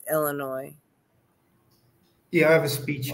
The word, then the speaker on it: Illinois: The S is silent. It's Illinois.